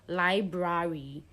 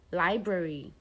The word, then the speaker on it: library: So the A sound is usually a weak sound. So it doesn't come out like library, but library.